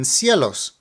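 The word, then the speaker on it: cielos: in an earlier example there's a weak and a strong vow in seos so here we emphasize the EOS we also see the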